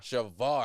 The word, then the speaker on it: Shavar: Shavar.